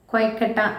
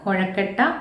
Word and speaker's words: കൊയക്കട്ട: രണ്ടാമത്തേത് ചട്ടിപ്പരി മൂന്നാമത്തേത് നമ്മളെ കൊയ്ക്കട്ട എന്ന കവിതയാണ് നമുക്ക് ഇവിടെ പഠിക്കാനുള്ളത് അപ്പോ ഈ കവിത എഴുതിയത് ദിവാകരൻ വിഷ്ണുമംഗലംാണ് കൊയക്കട്ട എന്നാണ് പറയുന്നത് മാനകമലയാളം അല്ല ഇത് പ്രാദേശിക ഉച്ചാരണാണ് കൊഴക്കട്ട എന്ന പദം അത് പ്രാദേശികമായിട്ട് കൊയക്കട്ട എന്ന് പറയുന്ന രീതിയിൽ തന്നെയാണ് കവി നമുക്ക് ഇവിടെ